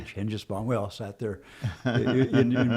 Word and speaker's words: Hengesbaugh: Hengesbaugh.